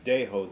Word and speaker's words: Cadejo: Cadeo. Cadejo, the J is silent. Yeah.